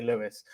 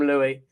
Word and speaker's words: Louis: louie uh lewis and spell it louis so we just all automatically say lewis but no i'm i'm properly i'm louie um but yeah i